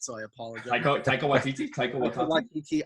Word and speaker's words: Taika: like kind Gunn of or copy and pasted Taki in a way. Waititi. I feel like James Gunn, Taki Waititi. I can never Yeah, say his name right, so I apologize. Taika Waititi, Taika Taika Waititi.